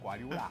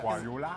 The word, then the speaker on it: Guardiola: Why do you have to say it like that? Guardiola. Because I got to Guardiola. he always says Guardiola. essentiate the A.